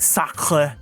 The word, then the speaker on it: Saker: So it says, Saker, well, specifically, the directions in the pronunciation say, it's pronounced, or I just say Saker, but it's supposed to be like sacre, like the French word.